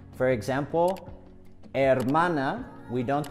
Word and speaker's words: hermana: the H in Spanish we don't pronounce the h no matter where it is in the word for example hermana we don't pronounce hermana or ambergesa we don't